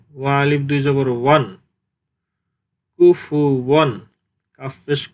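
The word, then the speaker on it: كُفُوًا: আলিফ দুই জবর ওয়ান, কুফু ওয়ান। সুপ্রিয় দর্শক, আপনারা জানেন ফায়ের উচ্চারণ সামনের উপরের দুই দাঁতের আগা নিচের ঠোঁটের পেটের সাথে মিলিয়ে উচ্চারণের সময় বাতাস বের হবে, কুফু, কুফু।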